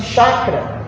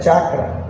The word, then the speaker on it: chakra: orientais é chamado de chakra, ou a sua pronúncia correta é chakra, que para nós espíritas, como André Luiz apresentou-nos nas suas obras, são chamados de centros de força.